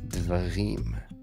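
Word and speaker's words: דברים: You have a dalet with a dagesh forte, which means it's a strong d sound, another vocal schwa, and those two together form an open syllable. D, and then a veit, kemet, de, va, rim, resh, chirik yod, and again wrapped by a mem suffix, dvarim.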